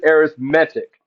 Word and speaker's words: arithmetic: an arithmetic sequence it's it looks like the word arithmetic but because it is an adjective we pronounce it arithmetic arithmetic sequence okay I'll put an accent on the E what an arithmetic sequence